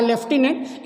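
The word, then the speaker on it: lieutenant: काबिले गौर क्या है कि लेफ्टिनेंट जनरल में एफ प्रोनाउंसिएशन में तो आता है, लेकिन लिखा नहीं जाता, लिखा जाता है ल्यूटिनेंट, पढ़ा जाता है लेफ्टिनेंट। इसी प्रकार का एक शब्द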